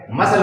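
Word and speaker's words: muscle: Ascend में सी silent है, मसल में सी साइलेंट है, डिसेंट में सी साइलेंट है, डिसिपल में सी साइलेंट है, प्रेजेंट में सी साइलेंट है, ऑब्सेंस में सी साइलेंट है।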